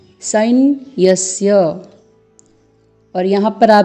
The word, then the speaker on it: सैन्यस्य: बना है तो आपको यहां उच्चारण करना है साइन यस्य यहां पर यहां पर आप देख रहे हैं अर्ध सत्य है फिर अर्ध ना है उसके पहले तो आपको उच्चारण करना है सैन्यस्य नायक झाल मम सैन्यस्य और फिर संख्या थम